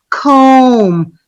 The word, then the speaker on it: comb: We saw that unfortunately, bomb, comb, tomb. These are 3 different vocabularies with 3 different vowel sounds.